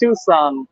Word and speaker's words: Tucson: much for vehicle losses the small city is pronounced Tucson thank you so much I was thinking yeah